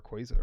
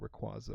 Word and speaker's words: Rayquaza: Rayquaza, right? Yeah. Or Rayquaza, whatever. I always I get got told that. I'm saying it wrong. Rayquaza.